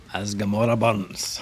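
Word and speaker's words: As Gomorrah Burns: As Gamora Burns. That's how it should be said, and if you don't say it like that, then your accent is wrong.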